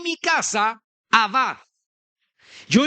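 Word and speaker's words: עָבַד: en hebreo es abat a b a d, ¿verdad? Abad con acento en la a.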